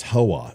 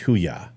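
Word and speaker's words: Hooyah: owning the Navy and it's huya is the United States Navy you guys it's not HOA is that what you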